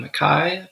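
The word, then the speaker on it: Makkai: story studio uh I think run by Rebecca McKai that's how you pronounce her last name and they offer especially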